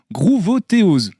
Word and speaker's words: Groovothéose: avant-première d'une certaine façon grouvotéo je le prononce à la française mais peut-être que c'est pas la bonne prononciation si si c'est exactement ça gr ouais grouterose c'est